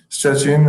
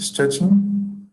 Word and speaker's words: Szczecin: Szczecin, okay, very close to Germany, right?